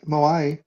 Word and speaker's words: moai: dived into it is that called is it pronounced moai she'll comment on my bastardization of the language no that sounds about right moai so yeah but I appreciate that Aisha so